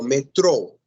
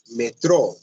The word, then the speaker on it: metrô: Estudantes em português, metro não é metro, senão metrô. Está acentuada. Sim, tem circunflexo na O. Então, você deve utilizar, deve fazer o esforço, deve colocar o acento, deve fazer a força da pronúncia aí nessa última sílaba.